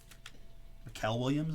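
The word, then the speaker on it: Mykel Williams: Mikel Williams is probably how you pronounce it. Just looks so much like Michael.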